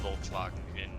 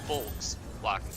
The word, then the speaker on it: Volkswagen: It's actually not pronounced Volkswagen in German. It's not what? It is not pronounced Volkswagen in German. It is pronounced Volkswagen because it's a Yeah. Volkswagen. Wait, yeah, Volkswagen, right? I think No, there's like a tone. There's like a tone thing there that is probably not audible. It's an F. Like it's not a V.